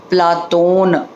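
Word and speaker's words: Πλάτων: प्लेटो शब्द शुद्ध यूनानी उच्चारण अगर देखें तो प्लेटो शब्द का उच्चारण होता है प्लातोन।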